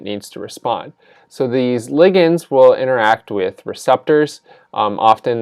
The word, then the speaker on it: ligand: molecule known as a ligand sometimes pronounced as ligand but I prefer the term ligand so this is the